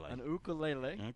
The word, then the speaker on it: ukulele: got to play some silly ukulele ukulele we learned how they say it from Hawaii oh I'm sorry Billy